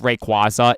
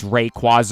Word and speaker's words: Rayquaza: You know how the debate with Rayquaza is Rayquaza or Rayquaza?